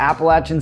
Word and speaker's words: Appalachian: And then Boone, right next door, is home to Appalachian State University. See, that's that North Carolina pronunciation at work again.